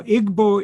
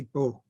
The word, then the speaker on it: Igbo: Now, Igbo is the native pronunciation of the word, okay, in the Igbo language. Ibo was used by the Europeans because they couldn't say Igbo properly, and that has been the accepted term in most writings.